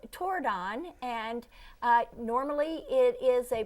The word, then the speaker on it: Tordon: And do It is not torn on. Tordon.